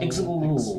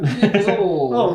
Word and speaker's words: Ixil: I'm not even going to try to pronounce his name. It's YXIL. Ixil. Yep. Ixil.